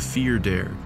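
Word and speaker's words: fear dearg: an evil Irish fairy known as the fear dare which is spelled like far darig this is a fairy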